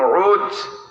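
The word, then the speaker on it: عوج: নামে উসপহলান শুনছেন না এর আরবিতে উচ্চারণ হলো আইন ও জিম উজ বাপের নাম উনুব মার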